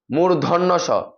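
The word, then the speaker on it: মূর্ধন্য ষ: স মদিনার স অথবা পেটকারা পেটকারা মদিনা স এভাবে বলে এটা সঠিক উচ্চারণ হচ্ছে যে মূর্ধন্য স মূর্ধন্য স অনেকে উচ্চারণ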